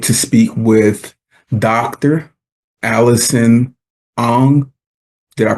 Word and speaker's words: Ong: Allison Ang. Did I pronounce that right?